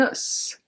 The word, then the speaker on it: os: Un os. Un os. A bone. Un os, when it's singular, we are going to pronounce the S, but not when it's plural.